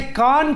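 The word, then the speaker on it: KAAN: parallel working somewhere तो वो जो कान जिसे कान कान प्रोनाउंस किया जाता है उसे अगर हम टर्किश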